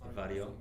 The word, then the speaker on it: Varjo: I mean, you have Varjo. How do you say that in Europe? Yeah, it's Varjo in Poland. Varjo.